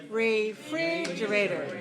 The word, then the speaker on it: refrigerator: okay so five syllables which syllable is stressed second second second second are you sure yes refrigerator okay let's analyze it what about the vowel in the first syllable make it weak okay if you say re too clear make it weak okay now how about the second solo free fridge now of course we already identified this as a stress syllable so it must be clear it must be long free